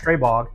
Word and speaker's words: Stribog: So this is a Slovak design and actually the term uh it is pronounced stbog straybog.